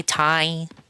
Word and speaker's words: Thai: Thai. I think people say Thai. The H is silent.